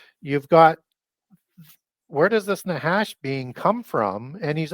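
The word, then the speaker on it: נחש: the root word is nahash n a c h a and a lot of times CH is pronounced as a h sound in Hebrew um it means Necromancer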